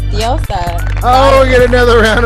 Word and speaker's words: DiosaZah: Come on now, you gotta tap into your Mexican side. Yes, it's DiosaZah.